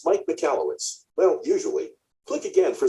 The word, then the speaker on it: Michalowicz: It's pronounced Mike Michalowicz.